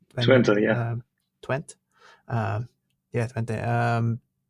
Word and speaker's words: Twente: You've been freelancing while you were at the University of how do I pronounce this? Twente, yeah. Twente.